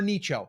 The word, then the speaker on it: niche: Starting with number one is niche specific or niche or nicho, however you want to say it. I always get a little kickback on that. I say niche rhymes with niches or riches are in the niches.